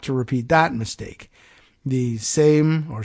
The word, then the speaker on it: Sejm: The Sejm, or Sejm, or however they would pronounce it, scrapped it, by the way, in 1791.